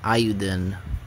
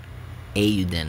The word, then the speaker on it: Eiyuden: video for euden ayuden ayuden i was told it was pronounced ayudin or something like that um yeah so